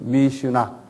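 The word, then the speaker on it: Mishnah: M-I-S-H-N-A-H라고 그래요. 한번 발음해 보세요. 미슈나. M-I-S-H. 그 다음에 뭐예요? N-A-H. 미슈나.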